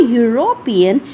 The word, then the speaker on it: European: When I'm saying he is a European, though it's starting with E and U, but the pronunciation is U, and that is not A-E-I-O-U wala.